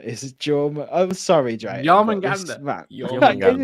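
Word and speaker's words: Jörmungandr: So the actual real pronunciation has got like a tsh on the end, so it's like Jormungandr.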